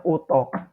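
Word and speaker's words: اتاق: Kamar dalam bahasa Persia itu disebut utok. Dibacanya utok. Utok.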